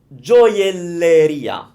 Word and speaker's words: gioielleria: So, G-I-O sounds gio. We don't pronounce the I if you know the Italian rule for that. So, gio, like the name Jo, because she likes to buy jewels, okay?